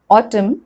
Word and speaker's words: autumn: about silent letter n n is not pronounced when it comes after m at the end of a word for example column him autumn solemn condem it's not difficult i'm